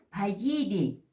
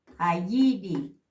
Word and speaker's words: payiri: Payiri, cocinero. La P con la H. Pa. Payiri, cocinero.